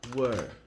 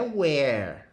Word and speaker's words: were: You, we e they, eu vou usar were, tá? Não é where. Você não pronuncia where. Where é esse aqui, ó. Onde, né? Aqui vai ser were, som fechado.